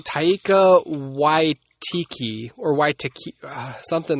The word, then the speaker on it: Taika Waititi: I don't know how to pronounce it. It's like Taika Waititi or Waititi, something like Waititi, something, I don't know.